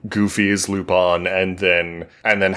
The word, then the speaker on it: Lupin: I think you could say Lupin and no one would really be upset with you about it. Okay. Because I was saying Lupin because that's how we would pronounce that in English as a name like like the flower.